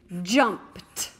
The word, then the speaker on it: jumped: And I hear a different sound at the end of this word, t, jumped. Because sometimes the suffix ed can say d, sometimes it can say id, and sometimes it can say t.